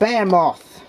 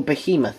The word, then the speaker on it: Behemoth: shut down by babe babe a moth or behemoth as it's properly supposed to be pronounced shunt all inflicting punishment